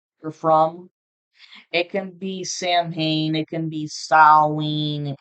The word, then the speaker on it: Samhain: I actually had a viewer who made a comment and said that it's pronounced as Salween. Me personally, I say Samhain, but I looked it up, and depending on what part of the world, 11:11 on the timer